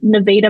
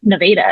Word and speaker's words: Nevada: I think there's a Nevada, Missouri, if I'm not mistaken. I lived in Arkansas, but that's how they pronounce it. Nevada. It's not Nevada.